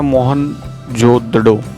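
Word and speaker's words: मोहनजोदड़ो: sucker जिले में स्थित मोहन जोदड़ो शब्द का सही उच्चारण है मोहन जोदड़ो इसकी खोज राखल दास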